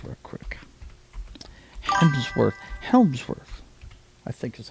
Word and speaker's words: Hemsworth: let's let's hit Chris Helmsworth real quick. Hemsworth. Helmssworth, I think is how you pronounce it. Yeah, it's Hemsworth. Okay. I always want to put an L in there somehow.